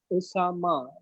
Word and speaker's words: Oussama: earning and I live in Karachi Pakistan so Osama I'm pronouncing your name right yes absolutely ok let